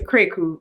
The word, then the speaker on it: Krakue: Technically it's Esther Krakue, but most people don't get it right because it's not in the lingo.